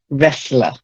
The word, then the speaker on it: wrestler: It's a silent T, wrestler.